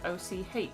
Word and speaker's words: och: I recently learned that the sound the Scots make in the back of their throat is spelled O-C-H, says Gamera.